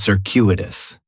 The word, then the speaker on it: circuitous: In the first syllable, that C is going to have more of an S sound. Circuitous. The stress is going to be on that second syllable. And that CU is kind of like you're saying the letter Q.